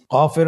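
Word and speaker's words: كاف: নম্বর হরফটির নাম কাফ কাফ উচ্চারণের ক্ষেত্রে অবশ্যই পাতলা করে উচ্চারণ করতে হবে এবং তিন আলিফ টেনে পড়তে হবে।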